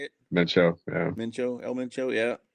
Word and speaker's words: Mencho: So cartel leader got smoked, and now it's El full on Minso, or is that how do you say it? Mencho.